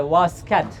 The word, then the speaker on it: واسکت: بریم بیشتر دربارش بدونیم تلفظ اصلیشم اینجوریه واسکت واسکت اون طی آخرش یه جورایی یه حرف تا میذارن طی دسته دار میذارن بهتون نشون میدم که یه باید یه جوری زبونو بچسبونید بالای دندونای بالا ادا کنید اینو